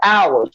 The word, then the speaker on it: hours: like you said hours this is why they gave us hours but the H is silent and if you do